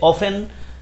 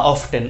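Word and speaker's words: often: অফেন বা অফটেন উচ্চারণ both আর correct.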